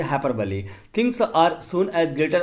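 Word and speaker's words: hyperbole: देखिए हाइपरबली को अलग अलग लोग प्रोनाउंसिएशन अलग अलग तरीके से करते हैं। इसका शुद्ध प्रोनाउंसिएशन हम करेंगे हाइपरबली।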